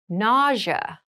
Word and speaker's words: nausea: an example itchy rash itchy rash ity rash nausea nausea NAA NAA is a very interesting word